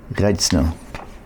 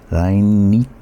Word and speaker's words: Reinitzer: A liquid crystal display, the LCD, and the two Austrians by Austrian chemist Reitzner. No, I'm not pronouncing that right. Reinitzer.